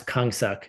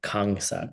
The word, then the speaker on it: Kangsak: And I like how you pronounce Kangsak. It's not a gong. It's not a g sound. It's a K. It's almost like a guttural K. Kangsak. It's a low tone.